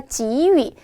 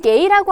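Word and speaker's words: 给: 예모, 침몰하다, 지위. 이건 게이라고 안 하고 지위라고 읽습니다.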